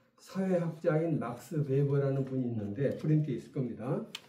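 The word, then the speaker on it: Weber: 버라 그래요 버가 아니라 웨버가 아니고 베버 버 버 버 부위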